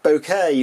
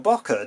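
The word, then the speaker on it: bokeh: image with lots of swirly bouquet or bakka depending on how you want to pronounce it and here's an example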